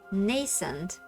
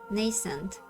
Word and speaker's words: nascent: Pronounced nascent. Okay, nascent, right?